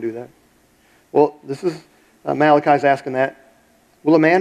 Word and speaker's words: Malachi: If you go, the last book in the Old Testament, it's the Italian book, only because you can pronounce it Malachi. But it's Malachi.